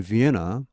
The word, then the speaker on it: Vienna: At the Institute for Human Sciences in Vienna. 자, 우리말로 비엔나죠. 영어에서는 비엔나 안 합니다. 이 n이 두 개지만은 영어에서는 자음이 두 개 겹치면 그중 한 개만 발음합니다.